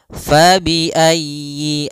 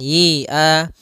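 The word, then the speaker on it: فَبِأَيِّ: pada lafal fabiayyi ala di sini usahakan huruf ya-nya ditekan fabiayyi ala faiayyi ayyi kemudian yinya pendek jangan dipanjang jangan Yi A tapi langsung saja fabiayyi ala Kemudian pada lafal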